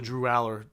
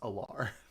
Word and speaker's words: Allar: Penn State I always think it's pronounced Allar. Pretty sure it's Aller.